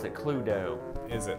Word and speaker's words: Cluedo: Cluedo. That's the way you pronounce it, Cluedo.